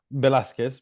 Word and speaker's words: Velasquez: Now, Santiago Valesquez, is that, I've pronounced it correctly, have I, Santi? Velasquez, but don't Velasquez, worry.